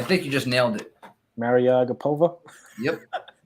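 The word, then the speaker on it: Mariya Agapova: you pronounce this young lady's name a man Maryellen Agra petha I think you just nailed it marry a gap ova yep it's become best friends where's my girl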